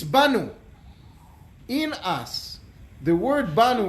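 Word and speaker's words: באנו: see and they knew very much how to pronounce it it's not bad with an olive its Banu in us the word bond without a lot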